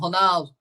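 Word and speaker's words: Ronaldo: do know that right it's Cristiano honald that's how you say it in Portuguese you do know that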